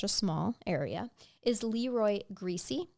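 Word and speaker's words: Griese: small area is Leroy greasy g r i e SS e I'd pronounce is it greasy yep he was um described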